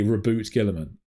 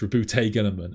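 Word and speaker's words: Roboute Guilliman: gave was Route Gillman because the French would say reboot Gillman I've nothing against that right your French that's probably correct but that is not how rabut Gillman is pronounced RAB Gillman is pronounced rout Gilman and we know that because Games Workshop have made a video about how rut Gilman should be pronounced and they told us so it's quite funny to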